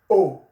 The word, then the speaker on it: au: When it's like that, okay, then the combination will become, when A comes into contact with le, the combination becomes O, A-U, A-U, and it's pronounced O, O, O, O, A-U, A-U, is pronounced O, O, O in French.